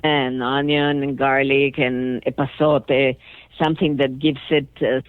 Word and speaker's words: epazote: So I want to pronounce it right. Epazote. That's Epazote.